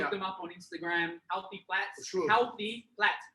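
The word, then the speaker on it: Healthy Platz: Healthy Plats. Sure. Healthy Plats. P-L-A-T-Z. He wants it to be pronounced as plates. Plates. Because he puts the Z there so that it's stylized.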